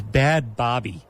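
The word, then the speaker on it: Bhad Bhabie: She is Bad Bobby. Bad Bobby. That is spelled BHADBHABIE.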